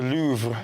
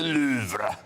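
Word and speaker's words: Louvre: you post so the louver the louver.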